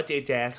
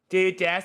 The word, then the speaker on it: Jaz: Mickey Mouse yeah man JAZ อ่านว่าจัสหรือแจ๊สครับถ้าชื่อเล่นจัสอ่านว่าจัสแต่ในวงการอ่านว่า JJaz ครับอ่านอย่างนี้ครับผม JJaz Sigma this is how